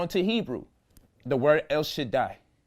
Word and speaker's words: Shaddai: When the Daleth and the Yod get together, it pronounces a long I sound. So you get Shaddai.